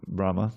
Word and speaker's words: Brahma: Brahma has a long a at the end.